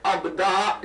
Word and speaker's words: ابداع: وقت کے، بغیر پروسیس کے بنے اس کو ابداع کہتے ہیں. بس تھوڑا سا میرا ساتھ دے دیجیے. ابداع کہتے ہیں، میں اسپیلنگ کر دیتا ہوں، الف بے دال الف عین، ابداع.